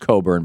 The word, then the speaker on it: Cockburn: Am I saying Cockburn? I think it's Coburn. No, it's pronounced Coburn, but it's spelled Cockburn.